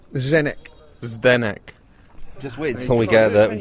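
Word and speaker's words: Zdeněk: their next D bar I got told off on Facebook for pronouncing making it more syllables and it should be but it's definite zenyk is their neck just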